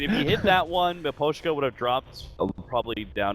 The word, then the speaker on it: Miposhka: Miposhka.